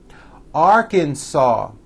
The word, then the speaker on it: Arkansas: me alabama alaska arizona arkansas the final s is silent california colorado connecticut delaware